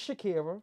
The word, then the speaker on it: Chakkera: No, I I always joke when I say this, but my government is Shakira. Uhhuh. But it's spelled so differently.